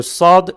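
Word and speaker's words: صاد: Nouvelle lettre, la lettre SOD. Alors la lettre SOD est un S emphatique, prononcé avec emphase.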